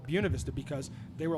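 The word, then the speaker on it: Buena Vista: they were like like listen buav Vista is fine but the original people who named the town would have called it bunavista because they were like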